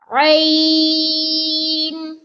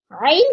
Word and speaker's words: ع: Rain. Rain comes from center of the throat to pronounce rain. Rain. This is rain. Kindly read after me. Rain. Rain comes from front of the throat to pronounce rain.